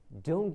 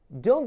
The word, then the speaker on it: don't: It's, don't get me wrong, it was very good. Okay, so the T is kind of silent.